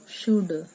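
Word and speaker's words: should: Guru number phi यू शुड एस एच ओ यू एल डी शुड नहीं बोलना है L silent है तो यहां पर बोलना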